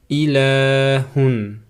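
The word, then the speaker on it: إِلٰهٌ: Первая буква алиф. Под алифом стоит кесра и читается как и. Следующая буква лам алиф. То есть два буквы лам и алиф. Над буквой лам стоит мад. Мад на фатха. И рядом стоит алиф. И произносится ла с ударением. И в конце стоит буква х. На нем стоит танвин на дамма. И произносится как хун.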